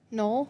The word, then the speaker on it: knoll: Knoll.